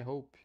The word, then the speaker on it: hope: espere tenha Esperança I hope Hope Hope Hope não pronuncie a letra e Hope Hope Hope a diferença